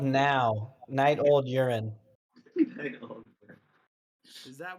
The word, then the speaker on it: Nou: his we were called now night old urine is that word now that's what i call music one came from spelt with a w number one no it's n o u pronounced now hey butthead where's the